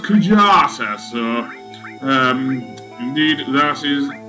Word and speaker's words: Kujata: summon material the kajata material yes i originally pronounced it yata because of how it was translated in the ps1 version but apparently this is now pronounced kujata so um indeed that is um how i